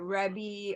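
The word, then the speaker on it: Reby: tick tock on Instagram it's at rebby Hardy r-e-b-y rhymes with Debbie Revy Hardy thank you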